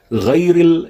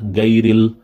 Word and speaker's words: غير: Ghayril is sometimes mistaken with ga, gayril, and some people may say gha. That's also incorrect. It's gha. It's gha. Ghayril maghdu bad.